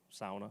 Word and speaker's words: sauna: and SA jumping into lake having a sauna sauna that's how it's pronounced and summer cottage actually that's our family summer cottage so That's uh just experience.